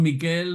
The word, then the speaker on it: Miquel: Los Y Miguel son Miquel y no sé en vasco cómo se dice, que no me acuerdo ahora, Michael, ¿no? Miquel, con el acento en Miquel, la I, sí, sí, sí, pero eso, Miquel.